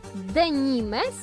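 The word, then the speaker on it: de Nîmes: wykorzystywany do produkcji żagli francuski zapis zwrotu z nim to denimes ale w tym języku nie wymawia się końcówek i w takim wypadku słyszymy denim Co zapisano właśnie jako denim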